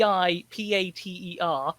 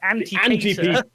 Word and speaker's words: Antipater: normal name and antipater spelt a n t a-n-t-i-p-a-t-e-r so i keep wanting to call him anthony peter but it's pronounced every peter in the vicinity watch out